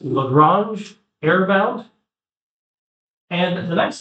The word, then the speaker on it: Lagrange: This is pronounced Lagrange error bound.